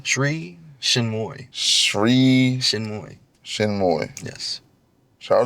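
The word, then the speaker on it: Sri Chinmoy: How you pronounce her name? Sri Shinmoy.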